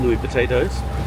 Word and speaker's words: Niuatoaputapu: We are departing from Vava'u in Tonga, heading to Niuatoaputapu, or Nui Potatoes, depending on who you are, how you pronounce it.